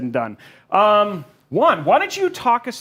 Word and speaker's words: Wong: We're going to get to learn a lot about Juan, which first and foremost, his name is Juan. Guys, we were mispronouncing it in chat, and you should have gotten it right.